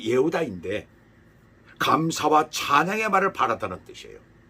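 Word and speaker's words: יהודה: 그리고 네 번째 아들 유다는 원어 발음이 예후다인데 감사와 찬양의 말을 바랐다는 뜻이에요.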